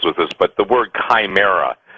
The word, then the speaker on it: chimera: this, but the word chimera, some people pronounce it chimera, pronounced chimera, C-H-I-M-E-R-A.